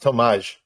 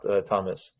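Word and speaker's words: Tomasz: I should say, by the way, it's pronounced Tomaj, not Thomas. Tomaj?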